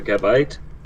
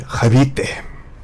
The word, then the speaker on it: Gabite: So he's also got a Lokix, a Flamigo, a Gabite, a Goodra. You mean Habite? I'll take your word for it. It's like sorry, I was like pronouncing it like you would Gabriel. Habite.